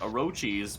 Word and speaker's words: Orochis: How do you pronounce that? Jesus, Yeah, all these Orochis. names. It's Orochis.